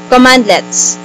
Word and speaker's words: cmdlets: it's a free installation commandlets cmdlets are pronounced as commandlets commandlets are specialized commands